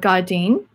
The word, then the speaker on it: Gardein: I don't know what country you're from, but in the US, we have Gardein and Boca. So Gardein is spelled like garden, but with an I before the N.